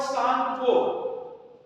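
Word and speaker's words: Tsangpo: In Tibet it is called सांगप। तिब्बत में क्या बोलते हैं इनको? सांग को जी छुट गया लगाने गुड सांगो टी साइलेंट है टी एस ए एन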